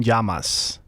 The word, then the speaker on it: Llamas: I don't want to he's Cuban descent so it's Tom yamas it's yamas don't you don't you